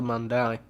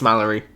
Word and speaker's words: Mallory: body in her house but how did the mandali it's Mallory yeah there was never a doubt in my